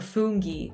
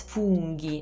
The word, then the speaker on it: funghi: means mushrooms and in english we usually say something like i think we say fuji or fungi the vowels are different so it's fungi again same thing with the you uh e so english pronunciation e italian pronunciation e i don't know if you can hear a difference but there's way more tension on the italian one so fungi fungi and so gh makes ge okay if it were g